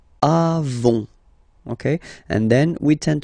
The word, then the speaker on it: avons: Then nous avons, final S not pronounced, avons, okay, and then we